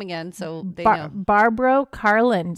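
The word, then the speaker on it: Barbro: name again so they barbar Carlin so it's not Barbara it's barbar b a r b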